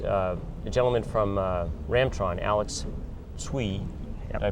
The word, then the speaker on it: Alex Tsui: morning uh is a gentleman from uh ramtron Alex sui did I pronounce that correctly that's correct now it's ways